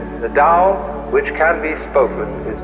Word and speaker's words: Tao: called the Dao t-a-o pronounced Dao in the Mandarin dialect Tau in the changhai dialect